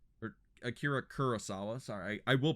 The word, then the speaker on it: Kurosawa: a samurai instead of a cowboy and akira kuasawa or akira kurosawa sorry i will pronounce his name right he deserves it um